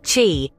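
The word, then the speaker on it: qi: is the belief in Chi pronounced Chi the vital life force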